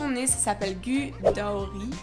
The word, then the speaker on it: Gudauri: Et du coup, la station où on est, ça s'appelle Gudauri. Avec l'accent. Ça se prononce Gudauri.